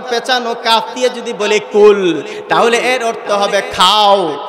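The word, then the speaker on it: قُلْ: হবে মোটা ভাবে উচ্চারণ জিহ্বার গোড়া থেকে যদি উচ্চারণ করেন তাহলে অর্থ হবে কুল মানে বলুন কুল অর্থ কি আওয়াজ দিয়ে বলুন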